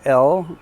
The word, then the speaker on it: Elle: And this is L. It's spelled E-L-L-E.